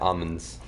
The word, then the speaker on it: almonds: They're almonds. Almonds. I don't say the L. So I guess... You don't pronounce the A either.